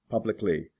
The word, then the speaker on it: publicly: basic basically specific specifically public publicly notice with this one there's no Al in the middle just l y at the end frantic frantically or frantically